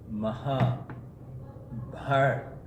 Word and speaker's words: Mahabharata: in other words Muhammad by the way the pronunciation is maja heart now why maja means great right and the